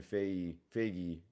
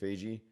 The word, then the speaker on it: Feige: And then the article also described how there's no Kevin Feige, forgetting how to say it, Feige, who's in charge of all the Marvel.